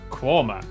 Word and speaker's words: Quernmore: Mousehole, Next, travel north up to Towcester, Toaster, then a quick jaunt to Gotham, Gotham, followed by a stop in Quernmore, Quorma, before finishing up in Alnwick.